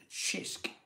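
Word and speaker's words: Cisk: you one for review it's pronounced shisk thank you so very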